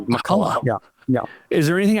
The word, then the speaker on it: McCullough: Do you say Makulla? Am I saying your name right? You are saying it correctly. Makulla.